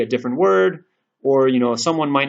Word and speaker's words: を: It sounds more like O with a slight inkling of a W sound at the beginning. So for example, we could say, watashi wa sushi wo tabetai desu.